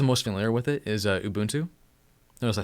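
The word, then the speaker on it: Ubuntu: just gets the most familiar with it is a boon to notice I said it right just because it's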